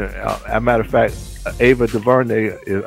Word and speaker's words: Ava DuVernay: As a matter of fact, Ava DuVernay, am I pronouncing her name right? That's what I was gonna say. Yeah, Ava DuVernay.